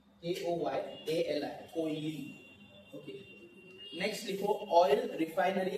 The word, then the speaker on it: KOYALI: KOYALI, कोयली, KOYALI, कोयली, okay. Next लिखो oil refinery Assam, oil refinery Assam. इसका spelling है DIGBOI, डिगबोई, यहाँ पर लिखा है DIGBOI, डिगबोई।